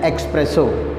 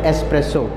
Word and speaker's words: espresso: contain any milk and it is Miller commonly mispronounced as expresso but it should pronounced as espresso for easy understanding I have mixed coffees with